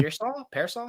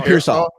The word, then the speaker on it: Pearsall: How do you pronounce his last name? Ricky Pearsall? Ricky Pearsall. Pearsall.